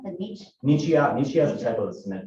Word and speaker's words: Nichiha: so all of it's brick except for how do you pronounce the niche? Nichiha is a type of cement board. It's Nichiha.